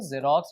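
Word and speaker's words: Xerox: एक्स, ये देखिए एक्स आया है, लेकिन इसका जो प्रोनाउंसिएशन करते हैं वो जेरोक्स या जीरोक्स करते हैं, तो इसके पहले आप लगा सकते हैं ए।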